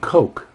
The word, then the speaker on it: Koch: whose name looks like it should be pronounced Koch, or why would a group of young guys, or well, young compared to their 90-year-old parents, why would they have a name like Koch and pronounce it Coke?